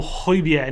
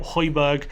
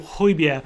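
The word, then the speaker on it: Højbjerg: to pronounce his name it's pierre emil hoybia not hoiberg which i've been guilty my brother's been guilty a lot of other people have been guilty of so pierre emil hoybia is the new signing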